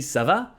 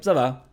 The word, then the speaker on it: ça va: And you can just reply ça va, ça va, ça va. By changing the intonation, you're actually responding it's going.